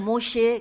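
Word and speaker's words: משה: بھی لکھتے ہیں، مشیحہ۔ جیسے موسیٰ علیہ السلام کو بھی وہ بعض دفعہ شین سے تلفظ ادا کرتے ہیں، موشے کہتے ہیں، موسیٰ نہیں کہتے۔ موشے دایان آپ نے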